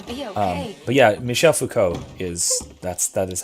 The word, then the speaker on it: Foucault: that way but yeah foucault is is pronounced like that it's michel foucault who